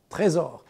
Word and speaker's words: Trésor: make for the watch it's pronounced french trezor so this is a